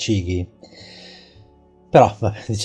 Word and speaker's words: Chigee: new Chigee or rather From what they told me the pronunciation is cighi but see let's say on cighi or Chigee the page does not